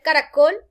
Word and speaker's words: caracol: Démonos cuenta que tiene 3 sílabas. Ca-ra-col. Pero la mayor fuerza al pronunciar caracol cae en la última sílaba. Miren, caracol. Por lo tanto, como el acento al pronunciarla va en la última sílaba, esta palabra es aguda.